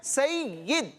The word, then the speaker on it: سید: अच्छा, बाद बच्चे इसको पढ़ते हैं सैयद, तो تو یا پر زبر نہیں ہے بلکہ کیا ہے، یا کے نیچے زیر ہے. درست تلفظ کیا ہے؟ سید.